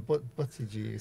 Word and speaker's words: Buttigieg: I'm glad you mentioned his name because I couldn't pronounce it before. It took us a while. What is it again? Buttigieg.